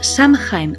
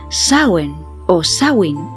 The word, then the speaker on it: Samhain: caso está relacionado con una festividad celta que pronunciaremos san jaime o samhain pero cuya pronunciación real es algo parecido a sour osa wind como yo toda la vida llamándolos samhein vamos a seguir llamándola así pero para que